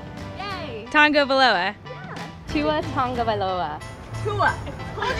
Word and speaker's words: Tagovailoa: There's no N. It's T-A-G. Tagovailoa. Yay. Tagovailoa.